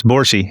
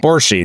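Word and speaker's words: Borsci: I don't know how it's pronounced. Borski. B S. Can you help me out here? Oh, yes. Borsy. Borchy. There we go.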